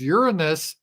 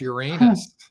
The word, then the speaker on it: Uranus: Is Uranus cold or hot? Or as it used to be pronounced, Uranus.